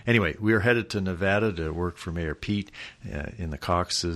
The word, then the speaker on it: Nevada: in the Iowa caucuses it's Nevada and you want it's like aunt not aunt so anyway we are headed to Nevada to work for mayor